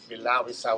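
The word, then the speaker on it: Bilal Essayli: How do you pronounce his name? Bilal Isai.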